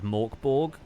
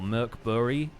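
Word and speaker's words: Mörk Borg: Honestly, if you want a tabletop RPG with something closer to the tone of Dark Souls, I highly recommend Morkborg, or Merkbury, as it's more properly pronounced, which is...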